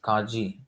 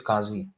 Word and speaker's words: Kazi: it say you see Kaji actually is Kazi the not it is